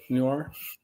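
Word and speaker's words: Neuer: German uh keeper Um, Manuel Newir, right? Newir pronouncing right. Correct.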